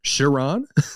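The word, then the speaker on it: Charon: I'm terrified that I didn't know this um pronunciation uh Sharon Sharon yes yes that's what I was thinking of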